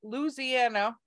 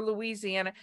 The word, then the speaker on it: Louisiana: around the Louisiana, because that's how you say it, Louisiana or Louisiana. It just depends. I'm saying it Louisiana, so all my Cajun friends.